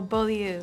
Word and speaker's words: Beaulieu: Oh, Beaulieu. Beaulieu.